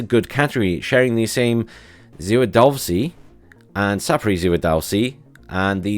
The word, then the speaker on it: Zwiadowski: I keep wanting to pronounce it as a W, but it's sort of more as like a V, the same as it is in German in Polish.